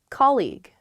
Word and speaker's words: colleague: colleague colleague yes colleague many of my students struggle with this they say colleague or they say call you or something because the spelling of this word is really really strange there's that g-u-e at the end or more commonly i